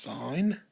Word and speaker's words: sine: in here and on your calculators but it's pronounced sign the second one is cosine of theta is